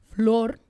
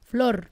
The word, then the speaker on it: Flor: Thank you for saying my name like that. What? Yeah. With the floor. I grew up people being like floor like the floor, you know.